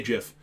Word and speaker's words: GIF: um yes a gif i say jiff um because that's how the creator of it wants it to be pronounced uh don't worry um